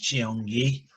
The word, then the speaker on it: Cheongye: a martial arts place the second word cheongye pronounced jiong yi was named after a six kilometer stream that